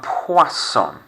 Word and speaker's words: poisson: looks like i'm poisson when you say this word i know fish don't tend to make a noise as such but if you're saying this word correctly your mouth should be forming a bit of an o type shape which if you've ever